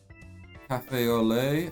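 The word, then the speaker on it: café au lait: That is pronounced Cafe au lait. Okay, it's French for coffee with milk.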